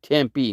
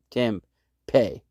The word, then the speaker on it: Tempe: it like it sounds tempe is supposed to be tempe not tim pay people in tempe would be pissed if you call that city temp pay so pronounce it right